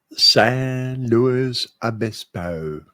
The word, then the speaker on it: San Luis Obispo: They're very particular about the pronunciation there. It's San Luis Obispo. San Luis Obispo.